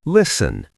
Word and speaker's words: listen: Listen. The T is silent.